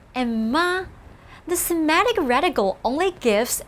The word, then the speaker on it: 妈: The same syllable 马 as 妈, just a different tone.